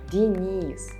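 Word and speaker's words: Денис: In Russian, these names sound as Ivan, Denis, Valery.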